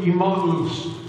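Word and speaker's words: Emmaus: his disciples on the road to imamus as the greek is pronounced and so as they're walking look at verse i'm sorry let's go to 25.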